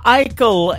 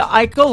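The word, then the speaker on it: Aichelle: she is a good friend of mine, Alicia Eichel, and that is called Unbroken. That is the title track of her latest EP. It is fantastic. Go check her out. Alicia Eichel.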